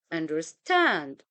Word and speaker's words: understand: the first syllable and we have another pattern that is an aest where we have two unstress syllables followed by a stressed syllable for example understand understand with we don't say understand we don't say understand we say understand the to syllable followed